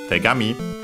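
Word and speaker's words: 手紙: We'll check its accent. I think maybe an accent on the last syllable, and we might have seen it before in a previous series. But yeah, it means letter. Let me quickly check. No, actually, sorry, unaccented.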